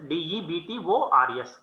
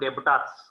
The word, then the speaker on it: debtors: See, here you have to pronounce as debtors. D should be silent, not debtors. Okay, when you pronounce this word, you have to pronounce as debtors. Debtor, B, you have to keep it as silent. This is a silent letter.